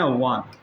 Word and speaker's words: one: ठीक है, चलिए जैसे एक स्पेलिंग है ONE, इसे पढ़ते हैं वन।